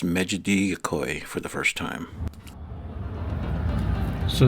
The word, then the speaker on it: Mecidiyeköy: I hope you have a good laugh here when I'm trying to pronounce Mecidiyeköy for the first time. So this area is still Nişantaşı? No, this here Mecidiyeköy now.